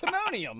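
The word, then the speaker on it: Timonium: It's Timmonium.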